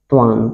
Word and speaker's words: Tlawng: TLAWNG ट्वांग, क्या पढ़ते हैं इसे ट्वांग, यहाँ पे एल साइलेंट है।